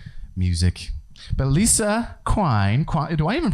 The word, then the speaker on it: Quine: But Lisa Quine, do I even pronounce your last name right? It rhymes with wine.